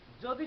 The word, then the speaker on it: যদি: যেমন যদি, যদি শব্দটি আমরা লিখে থাকি অন্তস্থ জ দয় রস্বইটা, কিন্তু উচ্চারণ করে থাকি বর্গীয় জ এর মতো।